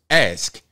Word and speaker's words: ask: To me, it takes the same effort to pronounce axe as it does ask, because you're pronouncing the K hard. Normally when I say ask, I'm not pronouncing the K completely, but I'm also not pronouncing the X.